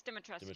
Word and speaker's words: Dimitrescu: Did I say it wrong? It's Dimitrescu. Dimitrescu. Okay, I thought it was close.